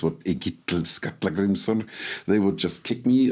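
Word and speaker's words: Egill Skallagrímsson: For example, the kings that appear in the saga of Egil Skallagrimsson, and I'm pronouncing him the old way, not in modern Icelandic, what Egil Skallagrimsson, they would just kick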